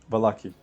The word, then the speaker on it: Vallaki: Valaki. Yeah. Is it or bali? Valaki.